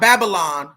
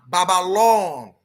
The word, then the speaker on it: Babalon: Not Babylon, Babalon. Oh, like tongue touching the roof of the mouth, open the throat.